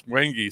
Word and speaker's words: wenge: how do you pronounce wenge so it's like the word wang and the word gee like the butter thing